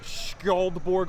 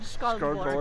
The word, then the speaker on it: Skjoldborg: It's Skjoldborg Artisans. Oh, there's a sh in there Yeah, too. Skjoldborg. Skullborg. Depends on how hard you want to Skullborg.